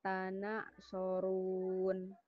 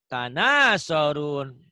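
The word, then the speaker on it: تناصرون: Malakum la tanak sorun. Jangan tanak. Tanasorun.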